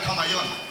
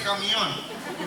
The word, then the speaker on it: camión: "Mira, a ver al camón y me decía, no se dice camellón, se dice camión."